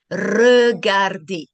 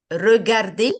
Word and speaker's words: regarder: Both of them are correct, okay? R, U, R. Both are okay. So let's put it in a word, okay? Regarder. Regarder meaning I see, okay? Regarder. You can say it regarder and you can say it regarder. Both are correct, okay?